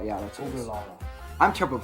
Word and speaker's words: Ogallala: Ogallala. I'm terrible at pronouncing things.